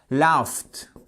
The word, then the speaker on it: laughed: En fait, lorsque vous avez un son qui ressemble à ce, che, que, là, vous allez prononcer comme te. Worked, OK? Work, worked. Laugh, fe, che, se, que. Laughed, laughed.